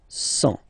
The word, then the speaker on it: cent: Remember, final T, not pronounced. 100.